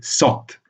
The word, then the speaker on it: saut: comme vous voyez dans le cas de saut au fermé, saute au ouvert.